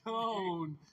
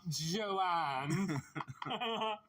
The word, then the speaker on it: Joan: Joan. It's pronounced Joan, not Joanne.